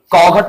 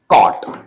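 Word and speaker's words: caught: इसे नाइघट ना पढ़कर नाइट फाइघट ना पढ़कर फाइट और कघट ना पढ़कर कॉट ऐसा मतलब जी एच जो है साइलेंट होगा।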